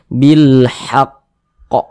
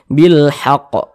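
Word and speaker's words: بالحق: ada tanda tasydidnya nih maka cara membacanya itu seperti ini bilhaqqo kita tasydidkan dulu kita tasydidkan bilhaqqo jangan jangan dibaca seperti ini bilhaqqo bilhaqqo salah tapi ditasdidkan dulu bilhaqqo ahah seperti itu ya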